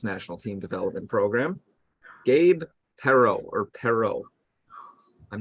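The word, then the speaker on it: Perrault: the United States national team development program Gabe pero or pero I'm not good with pronunciation of these types of last names it's all good it's uh Gabriel Perot so yes and he is a Canadian American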